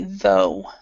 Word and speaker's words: though: The UGH is not, you do not pronounce it. So this would be, excuse me, though. Though. H-O, though.